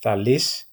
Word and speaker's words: Thales: the first recognized mathematician, Thales. In Greek, you pronounce that Thalis, and his discovery of parallelism.